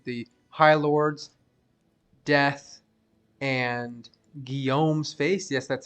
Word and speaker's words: Guillaume's Face: This build has 100% Crushing Blow, 100% Deadly Strike due to the High Lord's Death and Guillaume's Face. Yes, that's how you pronounce it.